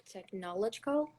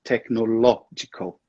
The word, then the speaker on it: technological: Technological? Almost there. Technological. The emphasis is in the next syllable.